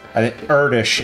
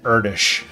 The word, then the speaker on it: Erdős: Erdős is probably the most famous example. It looks like Erdős, but she's going to kill me when I get home, but I believe it's Erdős. I mean, it's interesting.